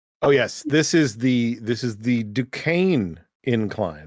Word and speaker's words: Duquesne: Yeah, says that Duquesne is pronounced like the French.